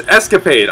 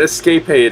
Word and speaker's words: escapade: occasional sudden escape escapade it was escapade I think I pronounced it escaped aid or something like that last time and aside from